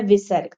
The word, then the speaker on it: विसर्ग: दूसरा है विसर्ग। अह यह किसी भी अक्षर के सामने लगाया जाता है। इसका उच्चारण ह की तरह होता है।